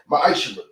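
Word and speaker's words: מעשר: Means tenth in Hebrew, and it's pronounced ma'ashra.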